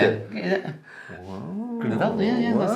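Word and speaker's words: Grüner Veltliner: Is that how you pronounce it? Yeah. Gruner Veltliner, yeah, that's how it is.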